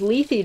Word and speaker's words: lethe: Just looked it up and realized I've been saying lethe wrong for 30 years. Honestly, it was a recent addition to my lexicon. I also did not know how to pronounce it, because lethe doesn't sound correct, but it is.